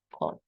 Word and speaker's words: call: La regla dice que debería ser una A corta, pero normalmente esta pronunciación sería más como decir call.